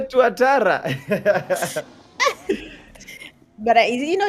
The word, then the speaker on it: Tuatara: That vehicle, the Tatara, you don't know the Tatara. How How don't you know the Tatara? The pronunciation is is funny. What is it? It is a tuatara.